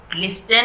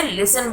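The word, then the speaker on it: listen: एंड लिसन, लिसन में T silent है, लिस्टन नहीं बोलेंगे इसे, लिसन बोलेंगे।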